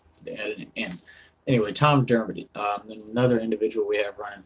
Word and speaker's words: Dermody: Anyway, Tom Dermody. Another individual we have running for mayor is Tim Stabos. I love her. Hey. Anyway, so Tom Dermody just so happens to be on this amicus